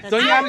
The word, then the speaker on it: Doña Ana: Yeah, that's yeah, Doña Ana She Wolves.